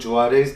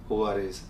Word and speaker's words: Juarez: So this is इसका pronunciation basically कई लोग Juarez बोलते हैं, but I think it's the correct pronunciation of this guitar is Huarez.